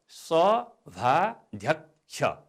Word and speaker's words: सभाध्यक्ष: हेर्नुहोस् है त, यसको उच्चारण हुन्छ सभाध्यक्ष। यहाँ कस जोडिएको क्ष छ, तर हामीले उच्चारण चाहिँ आदि छ र यको उच्चारण गर्छौँ। त्यसकारण क्ष, सभाध्यक्ष।